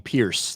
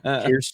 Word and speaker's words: Piers: I think Jay should go on there because Jay doesn't even know how to pronounce his name. So it'd be funny to watch him call him Pierce the entire time. Piers Morgan.